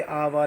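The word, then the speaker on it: hour: Honest, अब कुछ word silent होते हैं जैसे आवर, ऑनेस्ट, है ना, तो इसमें हमारा एच साइलेंट है तो फर्स्ट वर्ड ओ माना जाएगा, इसलिए आर्टिकल एन का यूज हो रहा है। ऐसे ए एल लिखा है, हेयर नहीं है, एच ही, एच साइलेंट है इसमें।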